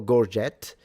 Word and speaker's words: gorget: So he's wearing a gorge or gorgette if you want to pronounce it that way.